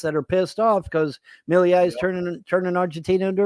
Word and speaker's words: Milei: I hope I'm pronouncing his name right because Milei. I think his name is Milei. I think you pronounce his name Javier Milei. Javier Milei. Okay. Sounds French, not Spanish, to be honest with you.